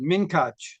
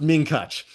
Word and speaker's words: Munkatch: My mother would have pronounced it minkach. Right. Exactly. It's pronounced minkach by the minkacher, but that's not how I float.